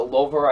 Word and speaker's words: Louvre: The Louvre, I believe that's how you say it, the Louvre.